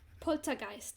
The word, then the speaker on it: Poltergeist: Poltergeist Poltergeist sorry Poltergeist let's not give it the English pronunciation because the English are always wrong with it when they take a German word and mispronounce it and add it into my own language as if it's always been there Poltergeist it needs to be more rigid Timothy for Jim Murphy